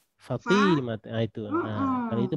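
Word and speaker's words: فاطمة: Fatimatunya kan harusnya fa-nya terus panjang ya. Saya malah T-nya yang panjang. Fatimah, itu.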